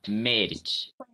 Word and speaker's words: merge: Não se fala o I final. O I final é mudo. A pronúncia para na consoante.